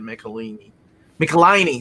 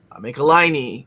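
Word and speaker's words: Michelinie: It's a follow-up to the David Michelini, sorry. Eric Larson taught me how to pronounce his name. Michelini, Todd McFarlane omnibus.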